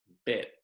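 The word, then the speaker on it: เป็ด: The Thai word for duck, this is a fun word to say, is bet. Almost if you were to spell it, it would be B-E-T, bet.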